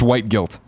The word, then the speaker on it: WHTGLT: And he says, it's pronounced white guilt.